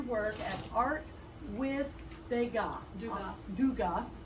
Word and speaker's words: Dugat: at art with dega duga d u g a t but we don't pronounce that t don't pronounce the T my dear Madame du